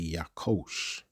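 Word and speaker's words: יָקֹשׁ: And that's let's see how that's pronounced. Strongs H3369. Yakosh. Yakosh. Okay. So that would be Yakosh.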